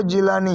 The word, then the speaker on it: جیلانی: वहां पैदा हुए तो अरबी में गाफ नहीं है उसकी जगह व जीम प्रोनाउंस करते हैं जीम बोलते हैं तो जब यह गिलानी अरब में गए तो वह जिलानी हो गए तो खैर ये जुज